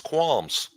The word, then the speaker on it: qualms: Quams. It's quams.